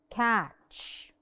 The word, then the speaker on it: catch: Catch. The T is silent.